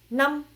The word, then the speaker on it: năm: ça en haut, du coup, le A se prononce très vite. Am, donc nam, et l'accent est neutre.